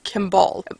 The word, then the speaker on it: Kimball: I think about it, if they pronounce it as Kimball or Kimball. It's probably more Kimball, because it's spelled K-I-M-B-A-L-L. It's probably more Kimball. I'll try to pronounce it that way.